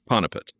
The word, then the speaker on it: Panipat: You've spoken some about Panipat. Panipat. I'm sorry, I'm trying to pronounce it correctly. Panipat. Is that's correct. That's correct.